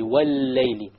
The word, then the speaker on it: وَاللَّيْلِ: But since it is a lam in and of itself, then you put a shadda on it and you pronounce it. So you pronounce the lam immediately. Wal-layli.